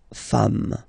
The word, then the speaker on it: femmes: s at the end, and as we said, you don't pronounce it, so you get des femmes.